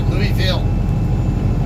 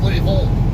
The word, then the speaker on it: Louisville: old Confederate States, whatever, when you see V-I-L-L-E, like Louisville, okay, I'll pronounce it the proper way, Louisville. But you get people from that part of the country, they'll say, no, it's Louisville.